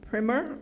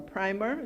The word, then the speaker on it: primer: Let's Make a Difference, a Caribbean primer or primer, depending on how you want to pronounce it, on climate change.